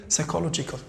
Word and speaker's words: psychological: Number 2, psychological. شوفوا معي الآن. psychological نفسي. وين اللي ما نطقتوش؟ P ما نقولوش psychological psychologue بالفرنسي. No, en anglais psychological.